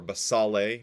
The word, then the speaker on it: basale: There are 5 strata that start out at the base: stratum basal, or basale, depending on how you want to pronounce it, but basal, basale, stratum spinosum, stratum granulosum, stratum